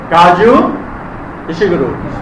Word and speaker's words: Kazuo Ishiguro: That is our writer Kaju Ishiguru. Everybody kaju kaju Ishi guru kaju Ishi guru he has to pronounce many names at the times of reading in this novel.